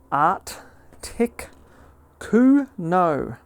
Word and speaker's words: Articuno: Art tick ko and um legendary Pokemon from the Kanto region does not evolve.